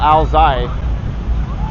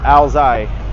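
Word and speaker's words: áo dài: I think it's called alai is the right pronunciation I'm kind of putting emphasis on the first two letters but I think it's the SEC the uh last three letters so it's alai but for people who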